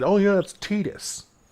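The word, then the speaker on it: Tidus: And I yes I know that his name is officially Tetus um in terms of the official pronunciation but I I refuse to call him Tetus. I I think it's the most ridiculous pronunciation of his name in my personal opinion.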